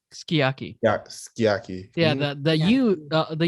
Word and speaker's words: sukiyaki: So in same for sukiyaki, it's just pronounced skiyaki.